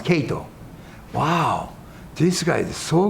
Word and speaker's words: Kato: he's name was Kato well Japanese way Kato but they pronounce Kato wow this guy is